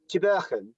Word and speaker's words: Tubergen: Tubergen. Tubergen. Tubergen. More phlegm, Alan.